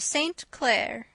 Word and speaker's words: St. Clair: Donnell, accent on the last syllable, and St. Clair, on no account Jacob.